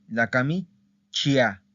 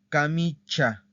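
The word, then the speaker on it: camicia: Perdón, no se dice la camichia, la camichia. No, se dice la camicha, ¿ok?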